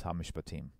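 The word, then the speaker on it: המשפטים: The way they pronounce this is hamishpatim. So ha, mi, sh, and again another sh doesn't have a vowel. Hamish, kind of like a stop sign, if you will. Hamish, pa, team.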